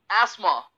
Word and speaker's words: asthma: और आप देखेंगे मेडिकल फील्ड में भी लोग इसे बोलते हैं एस्थमा। जी मेरे भाई ये गलत है, इसका उच्चारण एस्थमा नहीं होता, इसका सही उच्चारण है एस्मा।